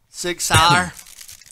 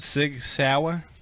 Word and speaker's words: Sig Sauer: Is it Sig Sauer? Or is it Sig Sauer? It's Sauer. Sig Sauer? Sauer. Sig Sauer. Sauer. Sig Sauer. Like you're from Pittsburgh.